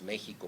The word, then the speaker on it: México: Veíamos su carácter múltiple en las pronunciaciones, porque los mexicanos decimos Xochimilco pronunciando la X como una S, decimos México pronunciándola como una J, decimos próximo pronunciándola como